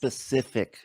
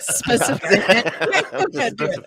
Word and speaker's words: Pacific: It's pronounced Pacific Ocean. So. Oh, sorry, Pacific. Specific.